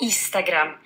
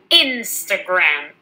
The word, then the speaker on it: Instagram: Four easy words that you might pronounce wrong. Number one, It's not Instagram. It's Instagram.